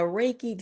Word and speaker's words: Reiki: Now, you've been leaning into, I want to make sure I pronounce this right. Reiki. Reiki, yeah.